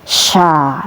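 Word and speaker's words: شَ: Kemudian ini syin tebal ya. Syin diharakati fathah maka dibaca sya ya tebal.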